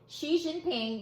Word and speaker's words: Xi: his face XI ...XI, I love his last name...pronounced SHEE.